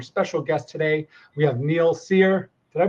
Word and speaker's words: Neal Cyr: We have Neil Seir. Did I pronounce that correctly?